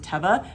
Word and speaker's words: Teva: quick so i listed these shoes they're the teva brand and i do for a fact know that they pronounce it teva because a guy on tick tock told me